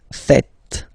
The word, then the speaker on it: faites: It's vous faites. Vous faites. Okay? So remember, final S here is not pronounced, and then this is not pronounced either.